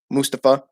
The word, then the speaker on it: Mustafa: to mustafa or mustafa sorry mustafa ali that's how you say his name pronounce it mustafa so there's just a